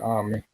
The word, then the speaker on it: Ami: Is it Amy? or Ami was supposed to be in charge of this. It's Oh, okay. Ami. They pronounce it Ami.